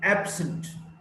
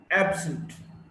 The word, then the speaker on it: absent: Now, if it's an adjective, absent, absent, stress is on the first syllable, ab.